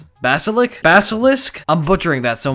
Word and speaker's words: Basilisk: I'm so bad at pronouncing the name of that gun because it looks like ballistic at quick glance, but it's not. It's Basilisk.